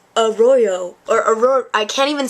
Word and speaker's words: Arroyo: in sync a Royo a Royo so that's how you say it a Royo and then I'm I'm